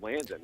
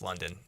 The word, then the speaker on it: London: First off, is his name London or Landon? Because your father there, Holton, was going Landon the whole time. Is it Landon? Do we have the name wrong? I had to check that too, and it's London.